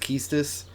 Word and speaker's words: Quistis: Your instructor is Quistis. I'll call her now. Just wait here a minute. So I've heard that like Quistis' name is actually pronounced Keistis.